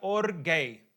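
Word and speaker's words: ὀργή: La palabra en griega para enojo se pronuncia orgay. Or gay. Una palabra medida rara, pero así es que se pronuncia.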